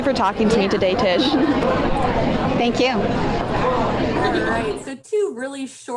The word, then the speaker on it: Tish: show on breakups okay what's your name I'm Tish can you spell that for me please yeah T is H